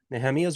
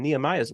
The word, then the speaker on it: Nehemia: Who him and I yesterday did a live report from Israel on his channel, his YouTube channel called Nehemia's Wall, or the anglicized pronunciation, Nehemiah's Wall.